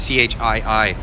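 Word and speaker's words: Chii: It's actually 2 I's, C-H-I-I. So like long E sound.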